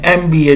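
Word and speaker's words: MBA: जैसे कि ही हैज़ एन एमबीए degree. सो इसके साथ भी ई एम की जो है साउंड आ रही है यानी एम।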